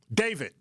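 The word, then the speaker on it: d4vd: Um, and so David, that's how you say his name.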